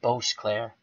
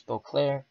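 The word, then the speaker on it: Boisclair: I was calling Boclair Bose Claire Abbas Claire army and he said the S is silent I took his word for it thank you very much so Bruce Boclair was one for three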